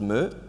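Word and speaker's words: MØ: And even the most simple ones, such as you have an artist called Mö. So that's with the O and the stripe through it, Danish letter, which in England is often pronounced Mo.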